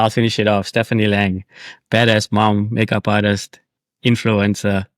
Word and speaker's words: Lange: I feel like everyone calls me Stephanie Lange and I'm like it's lag. Yeah, it's lang.